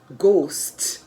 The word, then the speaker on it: ghost: the word whose w-h-o-s-e the h in the word ghost g-h-o-s-t the last b